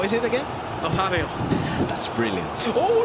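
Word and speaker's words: Nazário: I've been practicing the R9 pronunciation. So, how is it again? Nazario.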